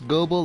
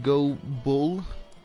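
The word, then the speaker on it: Gobul: I pronounce Gobel like Go Bull.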